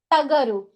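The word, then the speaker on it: ಟಗರು: इट्स टगरू इट्स not dancing वाला thing okay it's टगरू means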